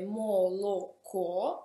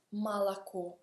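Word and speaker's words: молоко: Un'altra parola può essere malaco, scrive moloco, ma si pronuncia malaco, latte, malaco.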